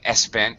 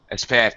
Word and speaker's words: spent: money see I was be careful about adding a vowel sound in front of spent you kept saying ESP spent ESP spent spent I thought you were